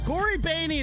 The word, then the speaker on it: Cory Boehne: Cory Boehne, that's how you say his name.